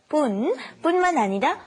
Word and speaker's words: 뿐만 아니라: because this 뿐만 아니라, be careful to do the, not 분, but 뿐만 아니라 뭐뭐도, and then how you feel about it.